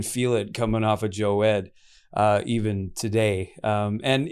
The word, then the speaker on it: Jowed: to say it right so joe ed everybody says but i don't even think it's right by what it should be because my dad's from syria but yeah uh i